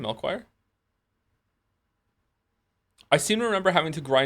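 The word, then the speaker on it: Melchior: Melchoir.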